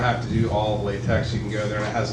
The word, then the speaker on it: LaTeX: And I mean, the thing about LaTeX is it's designed for like formatting your thesis. Excuse and I me, just want to. it's LaTeX. Just LaTeX. Oh, I'm sorry. Yeah, well, here I've been mispronouncing it.